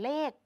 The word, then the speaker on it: เลข: ครู่ นี้ ด้วย กัน เรา จะ อ่าน เลข เหมือน มี ก เป็น ตัว สะกด นั่น เอง ค่ะ เป็น ยัง